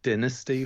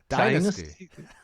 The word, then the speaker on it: Dynasty: It is meant to be pronounced Dynasty over here, although the TV show was Dynasty to a lot of people.